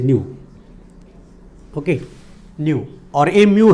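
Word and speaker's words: ν: तो frequency mu लेंगे. Okay, nu, it is nu, sorry, the pronunciation is nu, okay, nu, और a mu है, this is mu, this is nu lambda.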